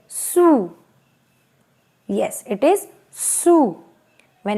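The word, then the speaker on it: sous: this case of course s is coming at the end so it is silent right so the pronunciation is su o u is a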